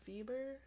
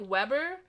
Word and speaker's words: Weber: a piece by verber vber he's a German like it's spelled with a w at first I was like Weber but then my professor was like no it's actually pronounced with a V I was like oh